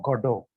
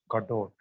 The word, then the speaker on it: Godot: of novels one of his plays Waiting for Godot the pronunciation is God of the spelling is g o d o t Gadot but we pronounce it as godo there are